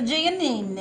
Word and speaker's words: Giannini: handmade, all handmade Giannini. And I hope Giannini. I'm glad she said that. It's a Giannini. You did say it right. Giannini, made in Giannini.